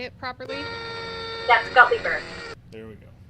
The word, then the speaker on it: Gutleber: tell me how to say it properly that's guppy bird there we go gottlieber yes i love that though that's so great